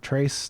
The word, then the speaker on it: Trace: pronouncing my name right I am more often than not called Tracy even though my name is spelled Trace t-r-a-c-e thank you and keep